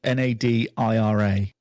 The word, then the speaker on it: Nadira: or Nadira Nadira how's that spell how you pronounce it n a d i r a n a d i r a yeah that's